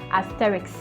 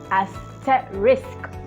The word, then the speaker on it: asterisk: risk behind not rex it is not asterisk this is not asterisk it is a set risk not i can't even pronounce it wrongly rick's ricks yeah i think that's how we pronounce it it is risk it is risk at the end not an x it doesn't have an x